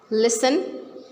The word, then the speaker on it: listen: So we are not pronouncing T in all these words.